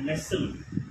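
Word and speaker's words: Nestlé: Sword அப்படின்னு pronounce பண்ணுங்க. Fourth one, Nestle அப்படின்னு சொல்லுவாங்க. இது நெஸ்ட்லே கிடையாதுங்க. நெசில். டி is silence. இது எப்படி ப்ரொனன்ஸ் பண்ணோம்? நெசில் அப்படின்னு ப்ரொனஸ் பண்ணோம்.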